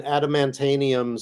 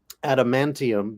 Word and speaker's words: adamantium: Like, the example I think of is when Rascas said he had an adamantanium skeleton like Wolverine, which is granted it's a made up metal, adamantium, but he added a whole extra syllable to the word.